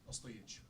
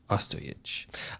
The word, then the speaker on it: Ostojić: Ostojić. Ostojić.